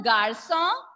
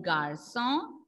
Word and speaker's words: garçon: You will be able to see with the letter C, and the pronunciation will be S. D'accord? An example say le garçon.